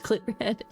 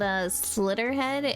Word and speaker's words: Slitterhead: We went over to pitch Glitterhead. This game's called Slitterhead, and I pronounced it like Glitterhead, and now we're talking about a glitter bomb monster.